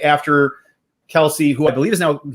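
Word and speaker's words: Kelce: It's always going to be Kelsey.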